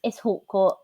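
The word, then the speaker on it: Hautecourt: My pronunciations are going to be awful. I don't remember his last name. It's Hawcourt.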